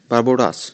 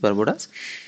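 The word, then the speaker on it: Barbados: और जो इसको चेयर किया है वो प्राइम मिनिस्टर ऑफ बारबोडास, बारबोडास शायद यही प्रोनाउंसिएशन रहेगी इसकी, बारबोडास, मियां मोतली।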